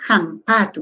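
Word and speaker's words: hampatu: Jampatu. Entonces, toda H que tú veas, lo pronuncias como J, jampatu.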